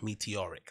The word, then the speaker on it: meteoric: it follows a meteor a meteor meteor meteoric meteoric that's how you pronounce it meteoric rise in the share price